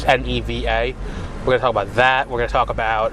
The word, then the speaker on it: Neva: which I probably should have asked how to pronounce um cuz I never did it's neeva we're going to talk about that we're going